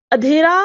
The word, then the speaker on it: अंधेरा: तो यहाँ पर जो है आपको 4 ऑप्शन दिए हैं, अंधेरा, अंधेरा, अधेरा और अधेरा। तो यहाँ पर देखिए जो पहला है अंधेरा, जब आप उच्चारण फिर से कीजिए अंधेरा, तो ये जो